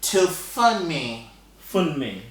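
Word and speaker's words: Tofunmi: to pronounce it so it's pronounced to funny yes okay thank you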